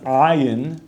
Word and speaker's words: ayin: Even though it might sound the same to an aleph and an ayin is pronounced ayin as a guttural.